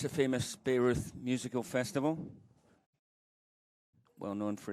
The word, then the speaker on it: Bayreuth: He's going to be happy on his trip back to, Steve, how do you say, is it Bayreuth? B-A-Y-R-E-U-T-H. It's not Beirut. No, it's not.